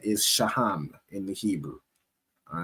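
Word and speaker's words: שֹׁהַם: And then we move over to the stone that represent them is a onyx which is pronounced in the Hebrew as shaham most high Christ.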